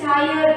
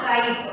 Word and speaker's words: tired: I may feel tired and fall sick. I may feel tired and fall sick. So, how you have to pronounce this? Tired, not tried. Okay, tired. T-I-R-E-D, tired.